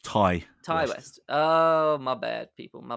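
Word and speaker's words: Ti West: to it I love the T West films and he's becoming one of my favorite sort of slasher horror directors along with a bunch of others I believe it's pronounced Ty Ty West oh my bad people my bad so when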